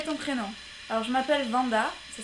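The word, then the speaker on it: Wanda: Alors je m'appelle Vanda, ça s'écrit avec un W mais ça se prononce comme si c'était un V.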